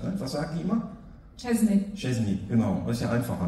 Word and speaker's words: Szczęsny: Oder Wojciech Szczęsny? Ja, da, hör mal, da muss ich dich mal eben unterbrechen. Szczęsny wird ja ausgesprochen. Und die Deutschen, habe ich richtig gesagt jetzt? Szczęsny? Szczęsny.